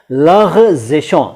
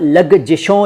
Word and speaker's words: लग़ज़िशों: Star बना हुआ है, लग़ज़िशों। सबक और लग़ज़िशों, सबक नहीं बोला मैंने और लगजिशों या लगजिशों नहीं बोला, मैंने बोला लग़ज़िशों। उच्चारण पर ख़ास ध्यान दीजिएगा।